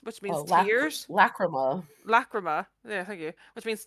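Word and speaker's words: Lachryma: you, like, but because the second song is Lactrum, I think it's pronounced, which means tears. Lacrima.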